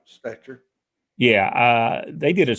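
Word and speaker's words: Stecher: a good one yeah s-t-e-c-h-e-r stature and i've heard it pronounced stature yeah uh they did a story uh on it on nbc one time i'm pretty sure they called him joe stetcher i i think you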